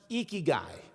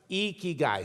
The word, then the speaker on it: ikigai: pronounce it it's pronounced ikigai you lift your cheeks like you're smiling it's icky guy say it with me